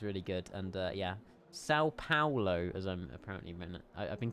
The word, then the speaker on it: Paulo: The problem is, Jamie, I've already recorded all the intro sequences for the entire weekend, and I've been saying Paulo, but it's pronounced Paulo.